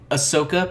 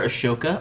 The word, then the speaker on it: Ahsoka: in the media because like ahsoka people call her ashoka i don't know why it's because the h is there it but they say